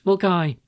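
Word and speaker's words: Milngavie: Why continue to choose a dreadful AI version of me when I'm right here and I know how to pronounce Mulgai.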